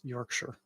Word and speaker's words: Yorkshire: Timothy Taylor Brewery from Yorkshire Yorkshire it's fun to say don't say Shire it's Yorkshire uh we're getting a